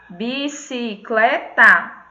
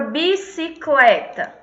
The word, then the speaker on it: bicicleta: E a palavra bicicleta? Qual é a sílaba tônica? Clé. É a penúltima, tio. Pronto. A Dávila já identificou que é Clé.